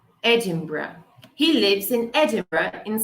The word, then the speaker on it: Edinburgh: Não é, como eu frequentemente ouve, Edinburgh. Pessoas veem burger e acham que é tipo burger. Edinburgh. It's Edinburgh. Edinburgh.